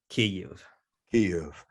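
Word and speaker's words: Kyiv: you'll see it now spelled as ky iv key you and i'm so appreciative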